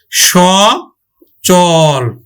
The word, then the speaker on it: সচল: অমর অমর হবে তারপর দেখ সচল এখানে দন্তস হবে না উচ্চারণ তালি স হবে স চল সচল তারপরে অচল অ চলস